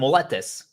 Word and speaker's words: molletes: But if you can't pronounce it, it's M-O-L-L-E, molle. It's like a Y, but I'm going to call them, you can just call them moletes.